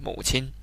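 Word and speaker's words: 母亲: say fuchin it's just say mother you say mo chin of course you know you can say baba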